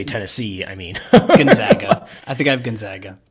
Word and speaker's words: Gonzaga: Matt says it's pronounced Gonzaga. He just spelled it. Got it. Yeah. Perfect. So it's Gonzaga. Final answer there.